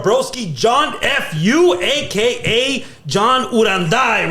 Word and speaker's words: Uranday: here with our broski John F.U, aka John Uranda, right? Hell yeah! Did I say it right this time? Yes, even saying it again. Yeah, no, the first time I was John. I still like Uranday.